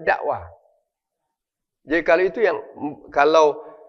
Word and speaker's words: dakwah: Di saat orang, walaupun ada H-nya ya. Tapi bacanya dakwah.